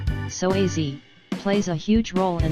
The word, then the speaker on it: psoas: The psoas, which is pronounced psoas, plays a huge role in the movement of the human body.